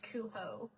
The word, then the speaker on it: Cujo: I don't think it's pronounced like that because it's not English. It would be pronounced with an H. Kuho.